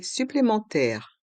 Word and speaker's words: supplémentaire: Des frais supplémentaires. Des frais supplémentaires. Frais. Le S du mot frais est muet. Frais. Supplémentaire. Le R de supplémentaire reste en suspens. Supplémentaire. Des frais supplémentaires. Des frais supplémentaires.